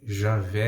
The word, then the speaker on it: Javé: Só que Javé aqui lê-se como I, porque no hebraico não tem a letra J, né?